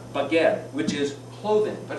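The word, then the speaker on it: בגד: It means, it's pronounced baged, which is clothing.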